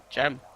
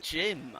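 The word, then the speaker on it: Cem: I will learn you how to pronounce it. Gem. I thought you said Jim. Oh, well. No, Gem. Ah, well. I used to say Sam or something like that, but it's definitely Gem.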